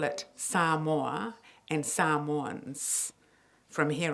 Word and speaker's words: Samoa: and I'm going to give you the correct pronunciation it's Sam war okay so I'm going to call it Sam or and Sam one's from here on out so